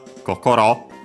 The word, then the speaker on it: kokoro: Kokochi actually comes from first and foremost kokoro, accent on the last mora on its own, which means heart, mind, spirit.